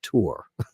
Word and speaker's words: tour: to say nowadays tour like there's two syllables in it it's a one-word monos slabic word it's tour everybody goes tour I